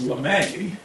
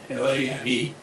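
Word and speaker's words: Lamé: But a French mathematician whose name is Lame, L-A-M-E, with a diacritical mark above the E, I think that changes the pronunciation from lame to Lame.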